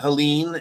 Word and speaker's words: Helene: He says, recent hurricanes, he's speaking of Helene and Milton. Originally, it was, that's interesting. You've got Helena. It's Helene, and I heard people pronouncing it Helena and Helena. Not Helena, Helena, but it sounds like Helena, and I guess who gives a fuck.